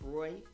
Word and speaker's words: Reuters: met some uh Reuters uh um reporters in in DC and asked them how to pronounce it. It's Reuters.